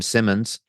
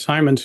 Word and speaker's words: Simons: was satisfying yeah so the famous Jim Simmons uh he was involved in the in the buyout of the company you worked at yeah I think he pronounced it as Simons he um was that